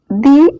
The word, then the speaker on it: the: ഇന്നത്തെ വീഡിയോയിൽ നമ്മൾ ഡിസ്കസ് ചെയ്യുന്നത് THE എന്നതിൻ്റെ ശരിക്കുള്ള ഉച്ചാരണം ദി എന്നോ ദ എന്നോ. ഏതാണ് ശരി? രണ്ടും ശരിയാണ്. സന്ദർഭത്തിനനുസരിച്ച് അതിൻ്റെ ഉച്ചാരണം ദി ആയോ ദ ആയോ മാറും. ഒരു പ്രത്യേക വ്യക്തിയെയോ വസ്തുവിനെയോ ഊന്നിപ്പറയുമ്പോഴും വ്യഞ്ജനാക്ഷരം അതായത് കൺസോണൻസ് ആദ്യ അക്ഷരമായ പദങ്ങളുടെ മുമ്പിലും വരുമ്പോൾ നമ്മൾ ദി എന്ന് പറയണം. For example, ദി door.